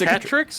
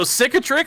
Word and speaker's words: cicatrix: Is cicatrix? Yeah, it's cicatrix.